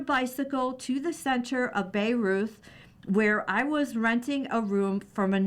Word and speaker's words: Bayreuth: People have been describing the near-religious acoustic experience of Bayreuth, pronounced by Riot, since its inauguration 150 years ago, this summer with the premiere of Wagner's four-opera epic Der Ring des Nibelungen.